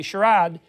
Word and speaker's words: charade: might is that a is that a valid pronunciation let me see what that is charade i don't see sharat is sharada a canadian pronunciation i've never heard that before sharad anybody know it's british that's how the french say british pronunciation of charade that's actually very interesting to me let me listen the interviews with justice charade oh it is the british pronunciation beautifully done all right